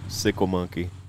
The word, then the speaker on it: Sickle Monkey: So sickle like a S-I-C-K-L-E. Okay. But people always not say like a motorcycle. Yeah. Yeah, people mispronounce it on there though. They're like, sick lemon key.